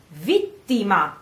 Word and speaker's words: vittima: Pronounce it the Italian way. So it's come vittima. And again, A ending the word.